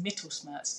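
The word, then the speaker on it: Mittelschmerz: Some women actually experience ovulation pain, which I believe that the proper pronunciation is Mittelsmerz, but you might be able to correct me.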